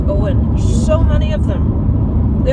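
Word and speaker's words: Eoghan: that's how it's spelled it looks like eogan pronounced Owen so many of them the other one is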